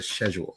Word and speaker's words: schedule: Regal um British yes a schedule that's how it's pronounced in in England scheduled all right all